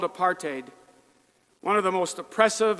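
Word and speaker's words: apartheid: the segregated world called aparade one of the most oppressive and unjust societies in the world. South Africans pronounce it apart hate.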